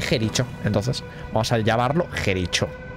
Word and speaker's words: Jericho: a matar o algo se pronuncia Jericó lo dijiste ya ya lo sé ya lo sé pero hombre que se pone Jericho Entonces vamos a llamarlo